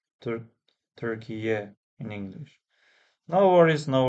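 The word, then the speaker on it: Türkiye: Because I think now you should be pronouncing Turkiye or Turkiya, maybe Turkiye.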